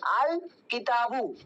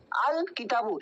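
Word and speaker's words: الكتابُ: হবে ক্লিয়ারলি করতে হবে যেমন দেখো কিতাবুন শব্দ ছিল ও শব্দের সাথে আলিফ লাম যুক্ত করা হয়েছে আলিফলাম যুক্ত করা হয়েছে আলিফ যুক্ত করার পরে কি হয়ে যাচ্ছে আল কিতাবু আল কিতাবু এখানে আমরা আলিফ লামের উচ্চারণটা কিন্তু স্পষ্টভাবে করলাম আর যেহেতু আমরা আলিফ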